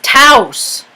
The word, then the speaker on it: Taos: It's Taos. I appreciate my neighbor yesterday, because I say Taos. I've said all kinds of stuff. But it's Taos.